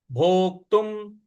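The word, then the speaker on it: भोक्तुम्: है श्रेयो श्रेयो भोक्तुम भ पर ओ की मात्रा है और जो आधा क है इस पर हमको आघात देना है भोक्तुम और त पर जो अनुस्वार है उसका उच्चारण हमें म ले आना है भोक्तुम भक्ष मपीह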